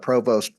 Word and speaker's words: Provost: And our speaker is Earl Provost. Now it's spelled Provost, but he tells me that the French-Canadian pronunciation is Provo.